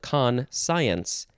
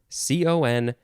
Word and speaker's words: conscience: no no you say you pronounce it conscience conscience there's an n at the end there conscience i know a lot of people have trouble with this word okay noun from the